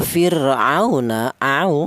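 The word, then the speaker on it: فِرْعَوْنَ: Kemudian di sini ada fir'auna, di sini ada wawu mati, di mana wawu mati ini didahului huruf yang berharokat fathah, ini dibaca lin juga ya, lin.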